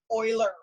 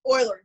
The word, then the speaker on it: Euler: ulis text this but it is not this is oiler okay he was European maybe Swiss and so it is pronounced Euler now one of the things